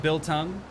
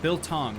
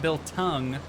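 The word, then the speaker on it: biltong: are we talking about Bill tongue Bill Tong like tongs Bill Tong not Bill Tong like like tongue but Bill Tong I've got you I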